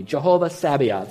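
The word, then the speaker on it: Jehovah Sabaoth: Lord that would help you he would be Jehovah Sabbath that's a hard name to pronounce but let's see if you can do it with me Jehovah Savion say it with me Jehovah Savion now that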